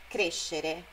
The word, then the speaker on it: crescere: É a sílaba anterior a esse final, xerê. Ó, conoscere é o no, nascere, crescere. Não é conoscere, nascere e crescere.